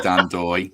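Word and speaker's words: Ndoye: No, what I was doing is trying to work out how to pronounce. Yeah. And he did say Dan Doy.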